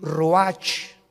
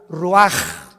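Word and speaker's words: רוח: capítulo y exhaló Isaac el Roach así como suena se pronuncia la c en hebreo como J ruaj se le só y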